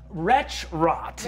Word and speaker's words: Wretchrot: isn't there a retro wretch rot yes for those at home retro is spelled w-r-e-t-c-h-r-o-t literally the words wretch and rot put together um retro who is